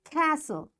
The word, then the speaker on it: castle: Listen, fasten, castle, often, whistle, soften, hasten, bustle, and gourmet. In all these words, letter T is silent.